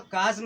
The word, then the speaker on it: chasm: अब बताइए, अभी यहाँ पर काज्म हुआ, अभी यहाँ पे चफ हो गया। तो कहने का मतलब ये बच्चों, स्पेलिंग को थोड़ा सा लिखते रहिए आप।